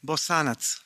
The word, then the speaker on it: Bosanac: How do you pronounce her surname? Bosanac.